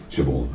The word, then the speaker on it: Siobhan: Siobhan, I always call it Siobhan because that's the Scottish way of pronouncing it, Siobhan.